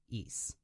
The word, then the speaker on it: Ys: in the East series that's spelled YS but pronounced East so the East series